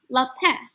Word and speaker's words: Lapin: The pronunciation guide says La Pan, but leave off the N. So I would say his name, Lapin.